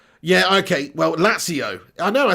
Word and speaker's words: Lazio: you're pronouncing latio wrong it's a zed not a t so i've been saying did i say lachio yeah okay well lazio i know i said